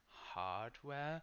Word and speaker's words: hardware: These words are made of two parts that are equally important, so that's called a compound word. So there isn't a syllable that's shorter, like high school, software, hardware.